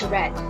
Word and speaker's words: read: past participle is red take note that the spelling of weed in base form and past participle are the same but they are pronounced differently again base form is read and past participle is red we have numerous examples